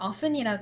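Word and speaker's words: often: 돼요 쓰실 수 있겠네 미국에서는 어순이라 그러고요 캐나다 호주 영국 뉴질랜드 통틀어서 다 업튼이라고 발음을 하는 사람들이 굉장히 많아요 물론 캐나다 같은 경우는 미국 발음이론 좀 섞였기 때문에 사람에 따라서 발음이 조금 다르긴 하지만 보통은 업스팅 업든이라고이 t 발음을 살립니다 미국 애들만 티를 굉장히 과감하게 빼고 발음을 해요 미국 영어라고 꼭 최고의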